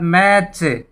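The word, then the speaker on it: match: उसके बाद मैच, मैच, मैच, T silent रहेगा।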